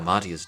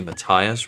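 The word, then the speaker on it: Matthias: Kira I heard father matius died shortly after my last visit I think that should be Matias rather than the way I pronounced it a forefather gno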